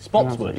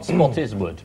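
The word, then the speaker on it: Spottiswoode: from offgas regulator CLA Spotswood is in fact how she pronounced it Spotswood not spottiswood no right spot is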